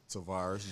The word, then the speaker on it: Tavaris: first name for me because I hate to mispronounce people's first name tarus Jones tarus Jones of sticks and stones sticks